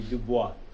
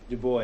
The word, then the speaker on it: Du Bois: America, which would be Du Bois. But Du Bois is what Americans usually call him, so fine.